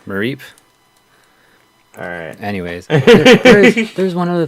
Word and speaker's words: Mareep: Mareep, there you go. The Is sheep. that how you say it? Yeah, because it's like sheep, Mareep.